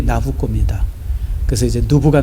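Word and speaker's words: Nabucco: 나 붙이는 말했듯이 뭐냐면 누부관데사를 이태리식으로 발음하면 그게 나부꼬입니다 그래서 이제 누부가 몇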